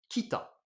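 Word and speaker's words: 北: Donc je l'écris bien en hiragana et ça se prononce donc kita.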